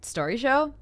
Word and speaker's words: Storyshow: saying it a lot and we're trying to pronounce it correctly and then Dale's like oh like Story show and yeah that's how we landed it baby